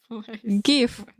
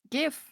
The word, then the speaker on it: GIF: Give. Okay. Give. The only correct way to say it, by the way. I agree. GIF is kind of cursed cuz it makes me think of G. No, but I don't know. There are two types of people. the ones who say GIF and the ones who say GIF like Jeff.